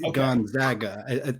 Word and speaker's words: Gonzaga: It's funny to me because they go by Zags, and so you'd think that people, I mean, you've been saying it correctly, Gonzaga.